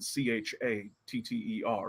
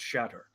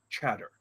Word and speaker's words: Chatter: her name is, well, it's spelled Chatter. In the old tongue, that was pronounced Shatter. But in the modern tongue, and since names are very potent, we have convinced her that she's Chatter, the lesser god of conversation.